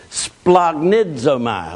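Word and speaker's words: σπλαγχνίζομαι: It's pronounced splagnidzomai.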